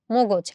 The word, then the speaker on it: মগজ: আমরা আসলে উচ্চারণ করি মগজ। আমরা কিন্তু মগজ বলি না, মাথার মগজ না, আমরা বলি মগজ। মগজ, এটা হচ্ছে আমাদের সঠিক উচ্চারণ।